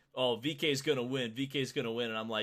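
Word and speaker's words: VeeKay: VK, Yeah, right?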